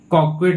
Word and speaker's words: coquette: तो ऐसी आकर्षक महिला को बोलते हैं मेरे भाई कॉक्वेट बोलते हैं। क्या बोलते हैं? कॉक्वेट।